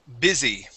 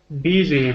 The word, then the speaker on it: busy: Andrea this word is busy busy K said yeah busy okay that u sounds like an I don't ask me why